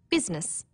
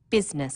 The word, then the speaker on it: business: Business, people don't pronounce the I. Business.